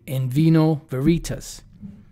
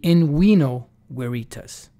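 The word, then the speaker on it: in vino veritas: envino veritas you know it should be in we know where itas because there was no such thing as a v pronunciation the letter appeared back then but it was pronounced as a w or a u so it should be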